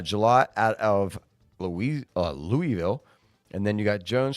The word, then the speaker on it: Louisville: we're doing a a live mock draft it's pronounced Louisville Louisville so I had my who you want